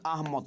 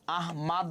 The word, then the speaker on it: আহমদ: কে লিখছে বলতো ফরুক আহমদ কে লিখছে বানানটা ভালো করে দেখো ওকে ফরুক আহমদ না আহমেদ না ফরুক আহমদ কি বলতো ফরুক আহমদ পদ্মকবিতার